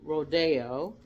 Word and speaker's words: Rodeo: So this is Rodeo, and the bigger one is Bel Air. So this is pronounced Rodeo, not rodeo.